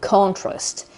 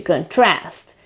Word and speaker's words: contrast: it's a noun and the accent is the very beginning of of the word word so it's on the stress is on the first syllable on the o contrast while in the second case it is a verb and you shift the stress to the second syllable to contrast in fact the stress in this case is on the a there's a little trick